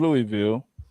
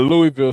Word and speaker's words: Louisville: I'm gonna shout out the whole city of Louisville.